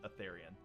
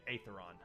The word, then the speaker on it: Aetheron: Is a fairly small city, but it was a walled city known Aetherian. Or I'm sorry, Aetheron would be how you pronounce it.